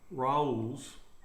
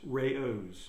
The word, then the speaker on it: Rao's: Sarah says that Raoul's is not Raoul's, it's Rao's.